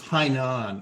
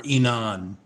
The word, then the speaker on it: Hainan: the south end of hainan or inan the chinese don't pronounce the h um this is zoom